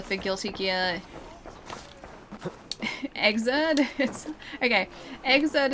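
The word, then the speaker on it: Xrd: Exert is spelled like X R D. So it's like third but with an X.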